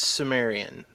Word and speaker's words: Cimmerian: Cimmerian. Is it Cimmerian? Is it Cimmerian? How do you prefer that pronounced? It's Sumerian. Imagine the word like the ancient Sumerians.